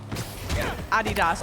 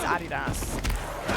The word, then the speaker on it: Adidas: Adidas, I know, it's the non-American, the way, in my opinion, the correct way to pronounce it, and the way that I pronounce it is Adidas, as many other Brits, and just like, I think it's only a North American thing to pronounce it Adidas, but I could be wrong.